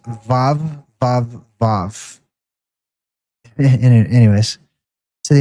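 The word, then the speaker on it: ו: It's pronounced vav vav vav anyways to the inhabitants of the earth.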